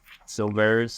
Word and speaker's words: Silveris: Silveris. Yeah. Silveris is how you pronounce her.